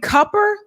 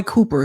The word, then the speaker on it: Cooper: a second so Roy copper is it copper everyone I know calls him Roy Cooper because it's spelled Roy Cooper but anyway uh Roy is